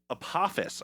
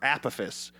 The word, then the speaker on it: Apophis: Apophis, I think is how you say that, or Apophis, the god of chaos asteroid, is speeding up, increasing the likelihood of it hitting Earth in 2068.